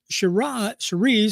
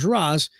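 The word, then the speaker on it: Sheeraz: Now, Shiraz, or if you pronounce his name correctly, Shiraz, 25 years old, chose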